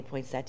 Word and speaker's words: poinsettia: will pronounce things wrong I call it a poinsettia some people say points that yeah I am NOT going to say it that way and this is just